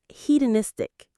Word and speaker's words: hedonistic: that we could call hedonistic. This word sounds a little academic, but it's very useful. Heedenistic. Heedenistic. Hedonistic. The main stress is on that third syllable. Niss. Heedenistic.